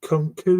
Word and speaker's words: Nkunku: And then Nkunku, is that how you pronounce it? I'm sorry if I've mispronounced. No, that's how you say his name.